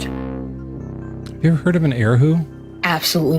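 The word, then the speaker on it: erhu: Have you ever heard of an eroo? Absolutely not. Uh I mean I have now u I think is how it's more more properly pronounced. Uruu uh is to in Mandarin.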